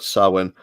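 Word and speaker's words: Samhain: NWA sa pay-per-view uh although it's spelled Sam ha but it's um gelic word sawin and during this pay-per-view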